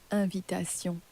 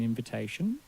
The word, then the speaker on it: invitation: preparation what about invitation invitation now you'll notice that the in on the front of invitation is not pronounced as a clear in in French although it's spelled in